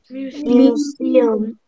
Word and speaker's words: museum: Museum. Ay, con dos U, museum.